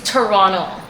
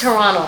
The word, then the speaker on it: Toronto: It's Toronto. I will never, not guys. Toronto. Like, Toronto, okay? I just pronounce it like a Caribbean person because I am from St. Vincent and the Grenadines. It's Toronto.